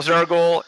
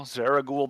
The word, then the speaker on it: Zaraghul: Well, Zaraghul, he's right. You are cool. Oh, Your thanks. name rhymes with cool. Zaraghul the cool.